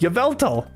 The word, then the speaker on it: Yveltal: No, I had no idea that was pronounced Yveltal.